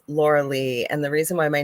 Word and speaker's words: Lorilei: spelled so strangely that people pronounce it probably the way it's spelled laurelai but I'm not laurelai it's Laura Le and the reason why